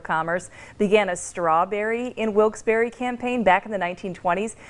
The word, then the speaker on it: Wilkes-Barre: hey wait a minute I'm the mayor it's Wilkes-Barre ironic since Isaac Berry is quite the popular